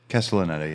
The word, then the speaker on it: Castellaneta: And then they brought Dan Castellaneta. Is that how you say it? Castellaneta, yeah.